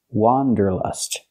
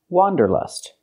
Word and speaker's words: wanderlust: The correct pronunciation of this word has the sound ah, like hot and stop. It's an open sound. Wa, wanderlust. For the first vowel, for the first syllable, use the open ah sound, like hot and stop. Wa, wanderlust. We cannot say wanderlust. We cannot use the short sound like cup and up.